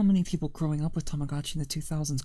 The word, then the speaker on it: Tamagotchi: Tamagotchi commercials have pronounced Tamagotchi's Tamagotchi, which is the right way of pronouncing it because of what the name is based off of. It's also how you pronounce it in Japanese. It's Tamagotchi.